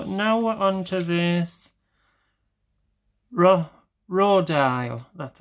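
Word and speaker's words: Rodial: Right, so now we're on to this Rodile, that's how you pronounce it, Dragon's Blood.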